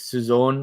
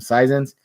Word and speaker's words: saison: But Saison, French season, French pronunciation is Saison or something like that.